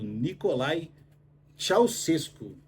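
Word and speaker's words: Nicolae Ceaușescu: regime comunista lá do Nicolae Ceausescu. Essa é a pronúncia correta aí do ditador que mandava lá.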